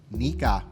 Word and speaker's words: Nikka: Nikka. You got to add a little Japanese accent to it.